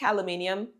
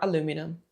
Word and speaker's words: aluminium: There are the basic aluminium or aluminum. I love those kind of pronunciation stuff.